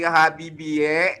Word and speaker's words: Habibie: Iya sayang Dadan kau nama Pak Habibie ini menggunakan ejaan lama sehingga Habibie cukup dibaca Habibi Ya pinter Oh iya